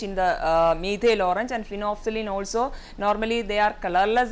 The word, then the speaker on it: phenolphthalein: It is phenolphthalein. So, even though we are pronouncing phenolphthalein, the spelling is little bit different.